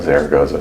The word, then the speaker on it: Zaragoza: Is there a better pronunciation of that? You're the only one with some Spanish experience. No, Zaragoza sounds right.